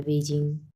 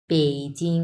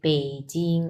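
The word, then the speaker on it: 北京: বাট এটার উচ্চারণ হচ্ছে ব না। এটার উচ্চারণ হচ্ছে প। সো এটা হবে বেইজিং। আমি কিন্তু প উচ্চারণ করছি। আর ইংলিশে যদি আপনি উচ্চারণ করেন তাহলে ব উচ্চারণ হবে। বেইজিং।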